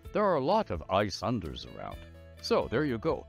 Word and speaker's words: Ayesunder: Ayesunder is how it's pronounced. Ayesunder. Except in the old days, back in Trondath, before people emigrated to what became Cormyr, the old pronunciation was Ayesunder, Ayesunder.